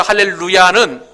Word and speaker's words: 할렐루야: 좋다 이야기하고, 그 다음에 히브리 동사는 항상 끝에 액센트가 있습니다. 그러므로 할렐루에 힘을 주어서 얘기해야 된다는 것이죠. 그러므로 살아계신 하나님을 찬양하라 라는 그런 의미에서 할렐루야는 정확하게 할렐루야 이렇게 발음을 해야 된다는 거예요.